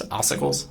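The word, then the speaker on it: ossicles: It's oicles. Okay. What is that? So, it depends where you're looking. There there are oicles in different locations.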